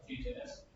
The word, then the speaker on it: Vue: Oke, apa sih itu Vue.js? Jadi Vue.js atau tulisannya sih gue ya, cuman bahasanya itu pronunciation-nya itu diucapkan seperti kata Vue dalam bahasa Inggris itu.